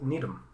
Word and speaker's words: Needham: His name is Cole Needham. And I probably butchered his last name, but that's because Needham is a town in Massachusetts, and that's how it's said.